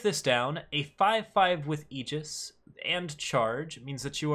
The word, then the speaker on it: Aegis: Aegis is actually how you pronounce that, but I'm going to get it wrong a lot. I think you can pronounce it Aegis, but I could be wrong about that. It might just be a bastardization that's eventually becoming legitimate because too many Americans read it as Aegis.